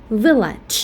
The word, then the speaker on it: village: And the last one, village, the lax vowel, the short vowel sound, the E at the second syllable. That's why we pronounce the first syllable, village.